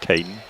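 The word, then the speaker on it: Caeden: Caden, C-A-E-D-E-N. Or maybe that's, I would pronounce it Caden.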